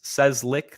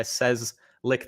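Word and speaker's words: Cieslik: my name is says lick the guy says lick the lollipop it's a Polish last name hardest spell hard to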